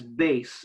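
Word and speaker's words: BACE: B-A-C-E. And I'm saying that's base, and it's a soft C.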